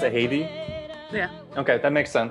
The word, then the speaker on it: Heidy: Okay, so you pronounce it Heidy? Yeah. Okay, that makes sense. Well, in English, Heidi, but Heidi is like feels closer to me.